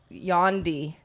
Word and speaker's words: Yandhi: I would be remiss if I didn't mention that Kanye will be coming out with Yandhi. I was about to say Condi. It's like spelled like Gandhi.